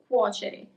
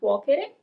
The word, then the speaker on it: cuocere: And then you have the soft C, cere, cuocere. It's not cuocere, but cuocere. Okay?